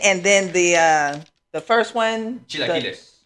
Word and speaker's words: chilaquiles: Chilaquiles. Chilaquiles.